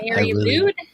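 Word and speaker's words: Mari Lwyd: Mary Lude. I want to say lewd. Lucid, lewd. Very well. The way it's pronounced is very lewd. Very lewd. It's a Welsh.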